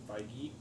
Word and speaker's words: Feige: Kevin Feige. Okay. Feige. Feige? No, Feige, Kevin Feige. Well, until he comes Really? on the show, we're going to Listen. mispronounce it. Feige and I are personal friends. He Sorry, says sorry. It's Kevin Feige.